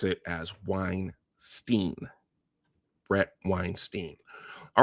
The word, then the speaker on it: Weinstein: Uh Michael says Weinstein. All right. So, from for from this point on, I will attempt to pronounce it as Weinstein.